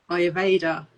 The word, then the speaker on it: Ayurveda: I think I get confused by the A because actually it's pronounced more of an I.